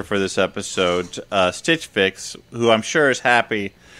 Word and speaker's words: Fix: don't believe that frick's frix is a word fix but no but you're right dan i'm the